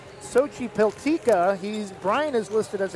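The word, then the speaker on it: Xochipiltecatl: with his brother Hunter we are pretty sure it's pronounced Sochi peltica he's Brian is listed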